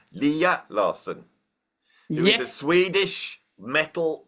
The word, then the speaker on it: Lea Larsson: to have and I've just been told the pronunciation Leah Larson who is a Swedish metal drummer how are